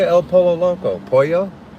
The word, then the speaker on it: pollo: Pollo? How do you say polo? Pollo? You guys, I'm getting really good at my Spanish. I've realized lately that you don't pronounce the L's, right? Just like Castillo.